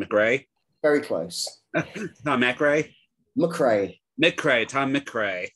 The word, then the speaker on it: MacRae: MacRae. Tom MacRae. It's English from the Scottish, but even though it is spelled Mac.